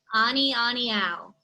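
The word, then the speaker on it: ʻAnianiau: honey creepers that we have left and it's pronounced ani aniow amiyama honey anion and then i skipped you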